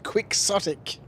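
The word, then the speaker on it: quixotic: It's pronounced quicksotic.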